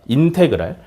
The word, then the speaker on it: 인테그랄: 뭐라고 읽냐면 인테그랄이라고 읽으시면 돼. 오케이? 실제로 인테그랄이라고 읽는 거야. 인테그랄.